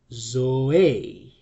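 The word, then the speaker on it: ζωή: have in this word well we have two syllables right zo a and the right pronunciation is zo because we have an acute accent here okay why isn't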